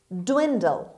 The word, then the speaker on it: dwindle: bom word number three dwindle dwindle dwindle the stress is at the beginning of the word means become smaller and smaller or shrink.